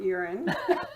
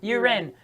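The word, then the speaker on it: U'Ren: pronounce your last name definitely not urine not you ren is it you ren uran uren yes it did i actually usually do pronounce it uren but it did slip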